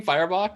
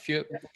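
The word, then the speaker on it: Feuerbach: says uh these are that's how you say his name firebot not few okay yeah these are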